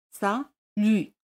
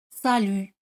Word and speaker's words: salut: Hola es salut. T al final no se pronuncia. Salut. Salut.